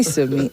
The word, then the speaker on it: Somi: Yes, it's Somi, please. Just simply Somi. S-O-M-I. I even spell it out.